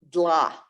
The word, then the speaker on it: dla: So, man, dla. Dla, D-L-A. We don't have those. We don't have that sound in our language, but we just go for it.